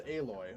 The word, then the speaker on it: Aloy: Oh, it's Aloy. Okay, I was always pronouncing So it in this Alloy.